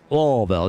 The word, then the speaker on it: Louisville: You have to say it right. Louisville. I saw some people on the Kentucky Derby TikTok and everything getting upset with people that say Louisville. It's Louisville. Just let it fall.